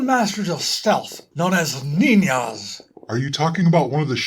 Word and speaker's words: ninja: It's pronounced ninja. I think you'll find that in their culture, the letter J is used for the sound we would normally transcribe with the letter H in English. I see.